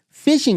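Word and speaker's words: phishing: you can use there's a thing called fishing emails and it's spelled p h i s h i n g fishing emails they'll come across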